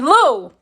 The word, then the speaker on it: Lou: You're saying my name wrong. Oh, I'm sorry, Lou. I'm sorry, Lou. L-O-U, Lou.